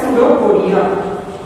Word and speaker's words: pseudopodia: So it closes this vacuole, and this part of the amoeba is called as pseudopodia. Pseudopodia. Here we is silent.